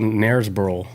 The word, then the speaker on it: Knaresborough: It's called Narsboro. NerSboro. Nars, spelled with a K.